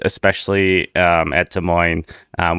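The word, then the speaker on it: Des Moines: I think there's a lot of names, especially um at De Moines, um which the S is silent, as Ronkumer tells me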